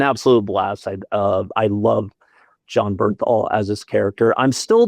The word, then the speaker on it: Bernthal: Is it Berthenstahl? I always say his name wrong. John Bernthal. Bernthal, thank you, John Bernthal.